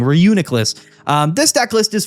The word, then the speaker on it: Reuniclus: Uh is going to be Renuculus. Uh uh Reuniclus rather. I always say it wrong. Reunicless.